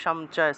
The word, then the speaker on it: সঞ্চয়: সঞ্চয়টাকে সামচয়, সামচয় এভাবে উচ্চারণ করা হয় সন্ধি বিচ্ছেদের নিয়ম অনুযায়ী।